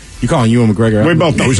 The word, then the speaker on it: Ewan McGregor: So you go Ewan McGregor. I say Ewan. You say Ewan. Ted, break the tie. I would say Ewan McGregor. Ted and Miles, you guys are correct. It is Ewan McGregor.